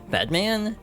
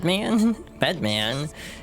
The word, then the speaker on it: Bedman: Bedman. You have to emphasize this correctly. It's not bed. It's bed. Bedman.